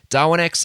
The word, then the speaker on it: Darwinex: DarwinX is spelled DARWINEX.